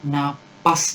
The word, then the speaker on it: napas: Kemudian, begitu lembar soal saya buka, saya menarik napas. Bukan nafas ya, tapi napas. Bernapas, bukan bernafas. Hati-hati. Bernapas. Ini yang bakunya.